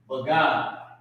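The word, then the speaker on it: בגד: But first, to get it, you gotta sell your bagad. Your garment. Bagad. Right? That's how you pronounce it.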